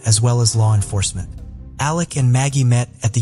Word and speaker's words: Alec: in my last covering it appears that he pronounces his name as Alec instead of Alex but I wasn't really